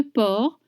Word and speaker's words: porc: Do you notice you don't pronounce the D at the end of pied and you don't pronounce the C at the end of porc? Pieds de porc, Félicie, grillé, frites fraîches, 10,50 €.